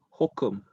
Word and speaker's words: HOCM: o cm in short some Americans call it Hokum I don't know why Hokum Mera Hokum